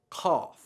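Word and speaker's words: قاف: So I like to think of this as a little pronunciation diagram, and these 2 dots are your tonsils, and here is your tongue, and it's bunched up in the back, and it's trying to cover your tonsils, and that's how you make this sound.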